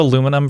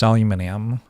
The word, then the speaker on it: aluminium: There's also aluminum versus aluminium. Yeah. Yeah. That's just kind of weird because it's also spelled differently.